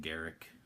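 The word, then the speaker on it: Garruk: like Karuk you know I pronounce it Garrick that's not guru and Rhys is how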